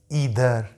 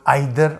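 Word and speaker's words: either: हैं ना, each, every, ईदर, नीदर, ये इसको कई लोग आइदर और नाइदर भी बोलते हैं। तो ईच, एवरी, ईदर, नीदर या आइदर, नाइदर, उस तरह भी प्रोनाउंस किया जाता है इसको, ठीक।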